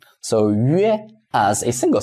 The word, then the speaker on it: 约: And then when 约 is within a syllable after G7C, like JQX, is spelled and typed in the same way, but it is different from here.